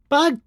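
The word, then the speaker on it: Bug!: Hang on, you don't pronounce the exclamation point in Bug? Bug.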